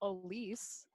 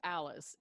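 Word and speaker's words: Alyce: clever and actually it it looks like alice a-l-y-c-e but it's pronounced elise one of those yeah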